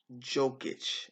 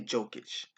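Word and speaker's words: Jokić: I'm gonna go with jokic and I hope I'm saying it right because don't believe there's a v in his name so it's not Djokovic I will say jokish like I have not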